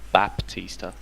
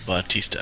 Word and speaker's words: Batista: Baptista okay thank you no not Baptista he's not a Baptist it's Baptista Batista okay yeah like the like the wrestler yeah don't don't worry